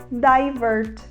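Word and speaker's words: divert: letra D significa alternar e a gente fala divergert então é você acabar o seu voo num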